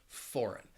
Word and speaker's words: foreign: And then there is the GN combination where the G is silent in words like foreign.